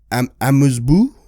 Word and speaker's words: amuse-bouche: An hors d'oeuvres, I'm going to mispronounce this, a amuse-bouche.